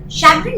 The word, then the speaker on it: chagrin: Chagrin means a sense of disappointment or being upset about something. Now over here, although the word begins with a CH, we pronounce it as sh, chagrin.